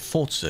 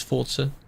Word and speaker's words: Forza: Get used to calling it Forza, because that is how it's pronounced. It is an Italian word, the devs say it's Forza.